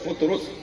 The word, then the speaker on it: فطرس: صحیح تلفظ ہے فطرس, فے پہ پیش ہے فطرس, ٹھیک ہے.